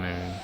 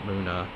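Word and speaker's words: Mune: when Masa and moon because moon is spelled m-u-n-e as two different characters not Muna otherwise they would have said Muna um I'm sorry I'm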